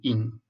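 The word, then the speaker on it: 饮: they use this character this character pronounced as in means drink drink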